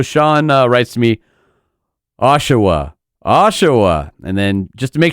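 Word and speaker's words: Oshawa: Um, it's Ashawa, Ontario.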